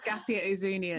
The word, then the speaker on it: Gascia Ouzounian: So who is Gascia Ouzounian?